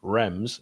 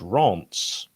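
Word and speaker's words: Rennes: fact by the way the team you played in pre-season rems is actually pronounced rants yeah well done diego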